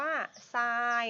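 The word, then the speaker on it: sine: ตอน แรก เลย คือ S I N E อ่าน ว่า ทราย นัก เรียน นะ เพราะ ว่า จริง ๆ แล้ว ชื่อ เต็ม มัน คือ อืม อี ตัว อี ด้วย ค่ะ ไม่ ได้ ไม่ ได้ อ่าน ว่า สิ้น นะ อ่าน ว่า ทราย นะ คะ ไซน์ ของ มุม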